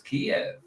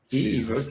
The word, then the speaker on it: Kyiv: How you pronounce it? Kyiv. I would say it's Kiev.